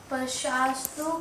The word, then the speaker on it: स्पर्श: मात्रा स्पर्शास्तु कौन्तेय शीतोष्ण सुख दुःखदा।